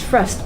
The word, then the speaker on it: Fröst: o so yeah is it pronounced process it's pronounced frost but I guess he shouldn't you should be